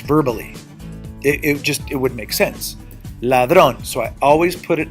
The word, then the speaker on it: ladrón: Ladrón. Ladrón. ¿Dónde subo la voz? Ladrón. It ends in an NS or vowel? Yes. I raise my voice on the second to the last?